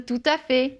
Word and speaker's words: tout à fait: Par exemple, tout à fait. Tout à fait. Donc là, hein, on ne prononce pas le T.